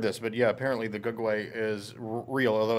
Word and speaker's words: Gugwe: had never heard this but yeah apparently the G way is real although it's not spelled that way it's spelled gugwe and it's somewhat like a Bigfoot